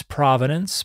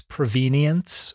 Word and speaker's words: provenance: wanted to talk about a word uh that I pronounce provenance but that some people will pronounce provenience or something like that particularly if they're of a European bent but this is a